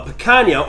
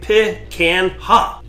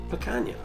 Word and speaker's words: picanha: backyard barbecue fun today we're gonna cook a picanha or how maybe some Wisconsin people let's say Pitt can hop it's how you spell